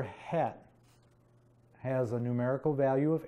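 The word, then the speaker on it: ח: You say it like, say the CH as in Bach, so you say het.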